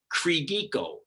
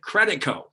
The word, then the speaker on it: Credico: But now one of my grade school teachers says Credeco. They never said Credico.